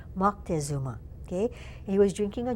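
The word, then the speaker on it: Moctezuma: misspelling because I guess um what we call monuma his name is more correctly pronounced mzuma okay he was drinking a drink called chocolatl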